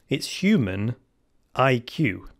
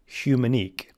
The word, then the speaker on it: Humaniq: one is this one you can pronounce in two ways. It's human IQ, but it's all one word. So it's either human IQ or humanique. You could say it both ways.